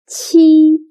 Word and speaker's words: qi: Qi sounds similar to the first sound of cheap, but when pronouncing qi, your tongue should be more flat, and also you need to stretch your mouth to two sides.